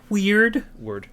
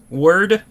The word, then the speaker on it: Wyrd: Web of Weird. Word. It's word.